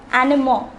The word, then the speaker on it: animaux: See the next word, animaux.